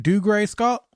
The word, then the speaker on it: Dougray Scott: Am I pronouncing right? Dougray Scott?